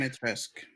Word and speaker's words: Dimitrescu: Why do I keep forgetting how to pronounce that damn name? Dimitrescu. Yeah, there we go. Yeah, Demetesque.